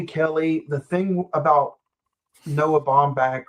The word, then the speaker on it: Baumbach: The thing about Noah Baumbach, right? I pronounced his last name right.